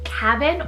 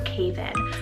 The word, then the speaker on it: Caven: Next, for another one that was sent in, I have the name Caven or Caven, spelled C-A-V-E-N. It could be pronounced either way, but it's derived from the name Kavanaugh, meaning born handsome.